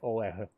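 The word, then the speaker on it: Олег: Because in my own language, it sounds, yeah, like Oleg. Ole. Oh, Ole. No, in the end, this is the G.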